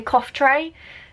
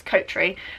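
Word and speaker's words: Coughtrey: about, with my surname, people call me Cough Tray. That's how it's spelled, and that's how people say it. And I was like, no, it's Coat Tree.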